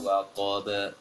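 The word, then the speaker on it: وقب: ketika mengkokolahkan ba, selanjutnya ba tipis, idza waqab, bahkan waqab tapi waqab ba, jangan dibulatkan mulutnya ketika mengkokolahkan ba, karena ini terpengaruh qaf sebelumnya barangkali.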